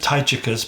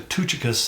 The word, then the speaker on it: Tychicus: uh we would say we pronounce it Tai chicas but it's actually tuchikas in the Greek and uh he we